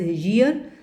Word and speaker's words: year: So because it is pronounced as ईयर, सो वाई की sound आ रही है, तो वाई की है, वाई इज़ a consonant, therefore इत्थे क्या आऊगा?